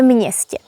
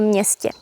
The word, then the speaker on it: městě: Although město has only one consonant, m, we pronounce it as mně. So, actually you hear m and n together. So, there are two consonants. v městě v městě or v mně in me.